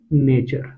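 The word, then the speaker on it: nature: अंग्रेजी क्या होता है, नेचर। इसको नटुरे नहीं पढ़ लेना बहुत सारे लोग इसको नटुरे भी पढ़ते होंगे, क्षमा है, लेकिन जब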